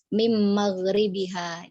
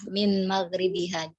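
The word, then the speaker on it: من مغربها: Nah, min maghribihanya tadi dibacanya mim maghribiha. Jadi ada baiknya dibacanya jelas ya, min maghribiha.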